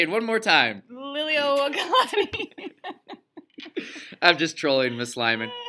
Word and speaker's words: Liliuokalani: looks at you while you do it, is pronounce the Queen of Hawaii's name. Which is on the left side. Liliuokalani. Say it one more time. Liliuokalani.